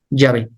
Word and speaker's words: Yahvé: Y los expertos hebraístas te dicen la pronunciación más acertada es Yahvé.